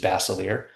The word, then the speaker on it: Basilier: pronounce my last name, which is Basilier. First 5 being Basil, spelling that.